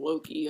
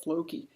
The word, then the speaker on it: Floki: But then Floki, I keep calling him Loki. I gotta just, like, write a big cue card with an F on it to condition me to say his name right.